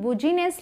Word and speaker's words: business: अब ये क्या है जिसकी स्पेलिंग बुजीनेस लगती है, लेकिन इसे क्या बोलते हैं? बिजनेस, बिजनेस, ठीक है, बिजनेस मतलब कारोबार।